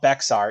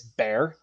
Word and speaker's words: Bexar: It's like beer or a bear or something like that.